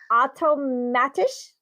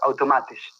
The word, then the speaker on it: Automatisch: Called Automatisch. Is that right? Yes, Automatisch. Yes. Automatisch?